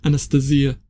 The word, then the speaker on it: Anastasia: In the book, Megre emphasizes that the pronunciation is Anastasia, whereas I would be normally calling it Anastasia.